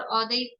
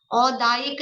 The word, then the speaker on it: औदैक: मौदैक शब्द नहीं है, शब्द है औदैक। और ध्यान रखेंगे, उच्चारण करते समय मैं स्पेशली ध्यान आकर्षित करा रही हूँ, तो ध्यान रखना है, औदायिक नहीं है, औदैक है।